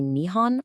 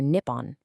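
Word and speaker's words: 日本: Does it really matter if I say Nihon or Nippon?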